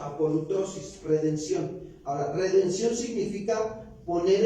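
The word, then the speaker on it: ἀπολύτρωσις: Redención en el griego se describe apolutrosis, así se pronuncia, apolutrosis, redención.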